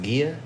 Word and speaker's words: Gia: And I think his wife the name is pronounced Gia.